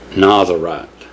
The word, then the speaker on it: Nazarite: valve of a n I keep saying it wrong I want to say Nazarite but it's it's n a z i r i t Nazarite I believe but anyway go back